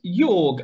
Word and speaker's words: Jörg: Jorg, I think that's how you pronounce it. Jorg, do you want to share your thoughts? Yeah, something like that, Jörg.